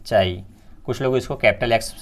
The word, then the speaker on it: chi: Pronunciation इसका क्या है? चाई।